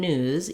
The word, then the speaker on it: news: difference between noose and news even though they're spelled quite differently is the end sound noose has the s sound and news has the z sound so if i were